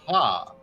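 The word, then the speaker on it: ห้า: turns out no the the letter five is pronounced ha so when taii people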